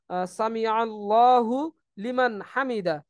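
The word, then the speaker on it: سمع الله لمن حمده: সামি আল্লাহু লিমান হামিদা এই জায়গায় আমরা অনেকেই একটু ভুল করি সামি আল্লাহু সামি আল্লাহু লিমান হামিদা বলি এই জায়গায় হুলিমান হামিদা হবে না এটা হচ্ছে সামি আল্লাহু লিমান হামিদা সামি আল্লাহুল লিমান হামিদা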